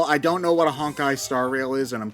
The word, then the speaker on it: Honkai: Okay, so I thought you meant like honk, and I. Well, that's how I pronounced it, because I thought it was funnier. It does kind of look like it sounds that way. Yeah. Yeah, it's Honkai. It's supposed to be Honkai, but Honkai, yeah.